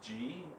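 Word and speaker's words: ji: Now, this is G energy. One time I press Like the letter G? G. Mhm. It's spelled GI, Okay.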